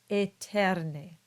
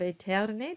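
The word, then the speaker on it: aeterne: The two vowels together produce a single sound. They produce the sound E. And so these two words become celi and eterne. And we can add in the extra E in the middle of eterne just to show that actually it's the same sound, eterne.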